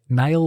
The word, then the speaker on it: Niall: Harry was Niall or Neil, depending on how you want to pronounce it, Cunningham, and he came into being on the 1st of October 1996.